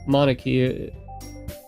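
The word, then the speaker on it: Monika: And it's it sounds like you already know Monarchy. Did I pronounce that one right?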